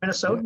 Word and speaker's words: Minnesotan: Minnesotan?